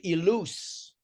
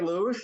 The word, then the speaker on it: Ilous: It's Terry Ilous. You lose. Okay. I sometimes I thought it was Terry Lewis or Terry Lewis.